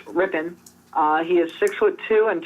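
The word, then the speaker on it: Rypien: his name wrong because every time I look at his name if I want to say riping but it's ripping uh he is 6'2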